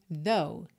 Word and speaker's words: though: parece né até porque o final esse GH não é pronunciado então a gente tem though though a gente já